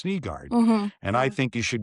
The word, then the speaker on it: Nygard: And some of our reporters in Detroit still when they ask the question will say Nygard. Well, it's Niggard.